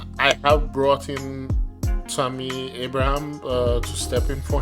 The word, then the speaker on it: Abraham: pronounce his name because the French side of me wants to say Abraham and the English side wants to say Abraham so I'm always stuttering when it when it's time to pronounce his name but since we're speaking in English I'm going to go with Abraham Tammy Abraham uh so